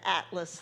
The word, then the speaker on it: Atlas: Yeah, I'm Atlas, the T is silent.